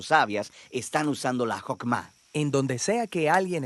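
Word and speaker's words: חכמה: hacemos Qué es esta fuerza en hebreo se pronuncia hokma y usualmente se traduce al español como sabiduría es un atributo de Dios que Dios usó para crear al mundo y hokma ha sido entretejida en la tela de las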